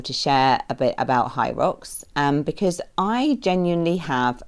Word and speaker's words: HYROX: based at Olympia in London and it's called H rocks and that's spelled h y r o x so I